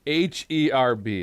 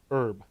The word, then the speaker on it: herb: the sun it's huge h-e-r-b how do you say that herb herb but if it's a person's name it's herb but if it's an